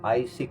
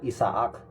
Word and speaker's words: Isaac: Isaac kasi ang pronunciation nila sa English eh. Kung babasahin mo naman, Isaac. Sa Ilocano o Tagalog, Isaac. Sa English, Isaac. Yan.